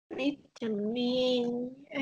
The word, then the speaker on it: beat: Từ này sẽ đọc là beat. Còn từ mà em đọc ngắn như vừa nãy là bị thì cái từ đấy là nằm nó chỉ nó có nghĩa là một chút ít thôi.